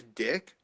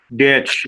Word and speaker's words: Ditch: Did you say his name was Dick? Ditch. It rhymes with Okay. ditch or switch.